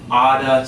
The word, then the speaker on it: ought to: They might say you oughta study, okay?